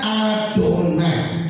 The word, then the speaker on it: Adonai: Mereka harus menggantinya, membacanya Adonai.